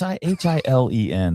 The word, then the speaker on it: Hillen: Is it Hyleen? How dare you? But it's Hilen. That looks like Hillen to me. Okay, but it's not. She gets mad. It's Kim Hillen.